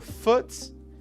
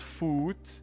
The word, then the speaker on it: foot: This connects your foot. Remember, it's not food. Not food. Foot. Foot. It's a short ooh sound.